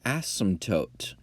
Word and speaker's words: asymptote: what's called it an asymptote it's an asymptote it has a silent P and that is again